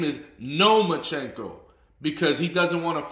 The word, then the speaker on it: Lomachenko: lomachenko's name again and Devin Haney said no you're saying it wrong it's no machenko so he's even in